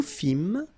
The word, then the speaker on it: fîmes: Nous fîmes, same thing here, you don't pronounce the S.